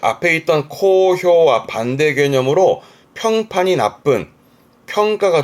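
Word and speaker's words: 好評: 발음은 코효.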